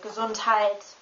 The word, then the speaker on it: Gesundheit: EI, AI, EY, and AY are all pronounced like the I in time. However, the last two, AY and EY, they don't really appear in the German language. They only appear in last names, but not really in words. You only have EI and AI, like, for example, Gesundheit, Reise, and my.